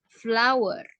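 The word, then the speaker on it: flour: got flower on his jadi cara penyebutan untuk tepung ini bukan flower ya walaupun tulisnya adalah flower tapi cara membacanya sama seperti kamu membaca bunga flower ya flow and he got flower on his ya Boleh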